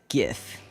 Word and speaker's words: GIF: save everything as a gif sorry soft G crowd I'm a hard G speaker which was silly back